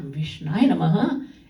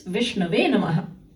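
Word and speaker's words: विष्णवे नमः: You foolish man, it's not Vishnaya Namaha, it's Vishnave Namaha.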